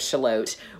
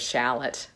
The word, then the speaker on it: Shalott: Maybe it is Shalott. Maybe it is shallot. Shallot just sounds like a small onion.